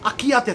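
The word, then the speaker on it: archaea: আর থাকে হচ্ছে আকিয়াতে থাকে, আকিয়া। আকিয়া দেখ, উচ্চারণ আমি যদিও আকিয়া বলছি, স্পেলিংটা জেনে রাখ, এ আর সি এইচ এ ই এ, এর উচ্চারণে আকিয়া।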